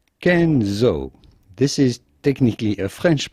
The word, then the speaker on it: Kenzo: man that was named kenzo so that's just kenzo and then of course last but not least how do you go about pronouncing louis vuitton with the typical french pronunciation